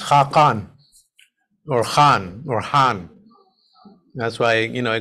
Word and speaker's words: Han: back to that and in Turkish pronounced Han right um in abyssinia what's